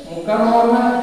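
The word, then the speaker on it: مُكَرَّمَة: Mukarramah di situ tulisannya mukarramati, tapi bacanya mukarramah karena dia tak ada pondeknya, tak begini. Nah, kalau ada pondeknya begini atau bundar begini dibaca mukarramah, bukan mukarramah, kecuali dia terbuka ya,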